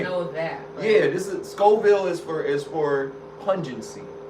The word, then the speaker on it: Scoville: do they measure what is skoven Scoville my bad Scoville my bad I said it I said it wrong it's Scoville unit that's how they measure